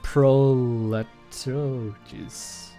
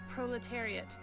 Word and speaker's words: proletariat: This game is filled with heroes of the how do you pronounce that word? Proletologies. Okay, I need Google to help me here. What is that word? Proletariat? Proletariat.